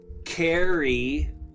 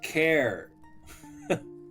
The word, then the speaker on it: char: I mean when you spell cherry, you don't go carry, right?